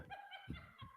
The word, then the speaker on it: Ken: name is Ken Ken Ken Leslie keeps telling me Ken doesn't have two syllables but my name is